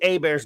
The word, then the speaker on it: Hebert: on this video but they actually pronounce this is what really they pronounced bobby a bears named bobby hebert i feel that